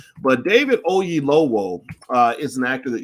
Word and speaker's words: Oyelowo: his name right because i don't want to mispronounce the brother's name but david ogie lowell uh is an actor that you've seen a